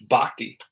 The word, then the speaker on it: Bochy: You got Mike Davis, Bruce Bochy or Bochy or Bochy or Bhakti, excuse me, Bruce Bhakti. That's how you pronounce that name.